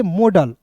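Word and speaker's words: model: मॉडल। देखिए यहां पे मॉडल पढ़ेंगे। यहां पे देखिएगा बिल्कुल ध्यान से। देखिएगा एम का उच्चारण म के रूप में। और ओ है तो उसका उच्चारण औ के रूप में।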